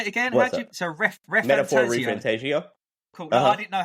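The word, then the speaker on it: Metaphor: ReFantazio: So Metaphor Refantasio. Cool. No, I didn't know how you pronounce it.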